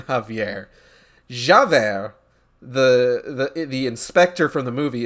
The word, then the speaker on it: Javert: Like, it caught me off guard when you first typed it because my brain just immediately pronounced it Javier, and I'm just like, wait a minute, that's not his name.